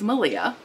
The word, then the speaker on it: Malia: Rhymes with Maria, who is Malia, had a podcast, which if you've never watched, you should go watch.